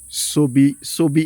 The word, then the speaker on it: Sobi: From there, we went to Sobi FM. Did I pronounce it well?